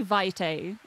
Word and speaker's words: Vite: I'm going to say Vite like Vitality I'm going to call it Vite and I'm going to